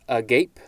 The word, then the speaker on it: agape: hell you're talking about next is a gape that's the one that i wanted to say before it is the second form of the same spelling of the word pronounced differently it is an adjective